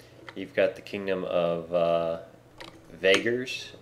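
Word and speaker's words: Vaegirs: You've got the Kingdom of Vagers, I think it's pronounced. It's V-A-E-G-I-R-S. Vagers, we'll call it that.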